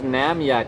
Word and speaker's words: Namya: So what's this Namya Tech? How do you say it? Namya Tech. What? Namya Tech. Namya Tech. For Na for Naomi, Maya for Maya, Tech for me, it's my company.